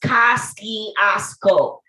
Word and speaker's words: Kosciuszko: my favorite uncle's house on lewis avenue in kosciuszko street and damn right it's pronounced casting osco by all the old school brooklyn natives because